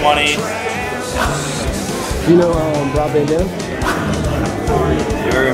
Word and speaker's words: Munny: And how do you pronounce it? Like money? Like yeah, M-U-N-Y, money.